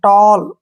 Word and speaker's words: tall: ए के बाद अगर डबल एल आए तो ओ का उच्चारण करना है, ओ, ऐसे। जैसे नेक्स्ट है FALL, फॉल, SMALL, स्मॉल, STALL, स्टॉल, TALL, टॉल, WALL, वॉल, BALL, बॉल।